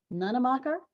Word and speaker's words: Nunemacher: I'm now feeling insecure that I will improperly pronounce her last name. Let me try. Fallon Nunemacher, certified peer specialist with Youth Revolution Advisory Board.